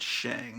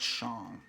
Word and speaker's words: Shang: I pronounce it Shang, not Shang.